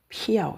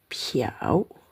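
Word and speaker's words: 漂: Tapi bacanya piau piau. Nada ketiga. Nah, bisa dibaca piau. Nada kesatu.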